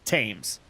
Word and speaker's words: Thames: start screaming at them it's tames sounds like the tames river of london pronounced Thames now that's the chains